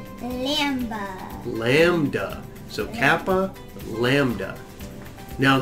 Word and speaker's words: Lambda: But how do we pronounce this letter? Lambda.